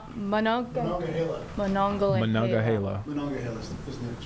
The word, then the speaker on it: Monongahela: Moments ago, did we get a pronunciation? Monongahela.